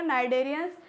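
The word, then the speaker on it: Cnidaria: phylum कोलेंटाइन होते हैं इसमें सी साइलेंट है तो क्या हो जाएगा नाइडर अब आता है फाइलम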